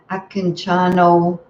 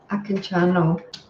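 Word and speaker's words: Akincano: a wonderful teacher um i don't think i pronounce his name quite properly but it's um akinciano webber akanchano i can channel um that's how you type it anyway a k i n c a n o and um anyways he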